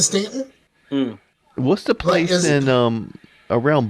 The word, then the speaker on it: Staunton: It's a bunch of stuff like that in Virginia, like a lot of stuff it's like Stanton is spelled Staunton, but we pronounce it Stanton.